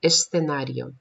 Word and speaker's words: escenario: El bailarín baila en el club o en el escenario, escenario. В слове «сценарио» здесь не удваивается, не выкидывается, ни одна, ни вторая буква, которая «с», «th», мы аккуратненько произносим. Сначала «с», потом межзубная «th», «сценарио».